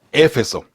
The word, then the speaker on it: Éfeso: acento sin acento Bueno creo que la la ciudad se llama a éfeso pero alguna empresa lo llaman nomás efes efeso nada más o efeso sin el acento en la e no cualquiera de las dos cosas hay algunas versiones de